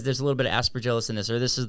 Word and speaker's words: Aspergillus: okay, this has some asparagus in it. I'm saying it wrong, but how do you say it? Aspergillus.